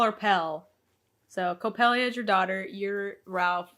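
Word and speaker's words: Coppelia: our daughter co copella co copella c o p p e l i a yeah copelia copelia they call her pel so copelia is your daughter you're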